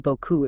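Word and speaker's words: beaucoup: comes to mind is the word Boku it means a lot right right Boku but those silent letters at the end can be tricky if you're not ready for them yeah it's like you're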